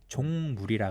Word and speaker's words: 종물: 근데 이 육수를 이제 발음 조심해야 되는데 종물이라 그래요. 종물. 우리말로 이제 씨 육수라고 하더라고. 그러니까 씨 육수. 종자인 것 같아. 종. 네. 족이 아니라 종. 이응 받침. 네. 니은 받침하면 큰일 납니다.